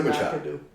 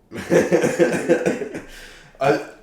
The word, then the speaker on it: Machado: I do like McAdoo. Machado. I couldn't pronounce his name until like 10 minutes before this episode.